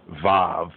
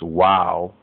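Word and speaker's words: וו: right there right to um they say the VAV but really it's wow wow and it's pointing to the Hebrew right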